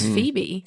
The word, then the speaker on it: Pheba: Well, actually interesting like so it's actually spelled Pheba, F P H E B A, and I was actually corrected by a local that it's Phoebe.